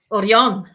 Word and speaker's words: Orión: Orion in Spanish or how do you say it in Spanish oron oron oh okay I like